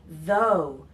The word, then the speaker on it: though: quick note about pronunciation the gh is silent so we say though we don't pronounce the gh at all alright so when you're